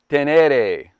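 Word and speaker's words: Ténéré: is the 2022 yamaha tenere 700 or as as they pronounce it in the touareg language bedouin tribe in africa tenere i had to find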